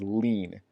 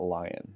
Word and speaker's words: lien: the next word is lien let's lean not lying right so this is pronounced like lien so and allene is